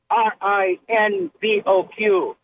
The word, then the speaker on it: Rinvoq: Can you spell it? Yeah, r i n v o q.